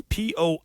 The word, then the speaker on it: Poitras: Don't look at the way his name is spelt. It's Poitras.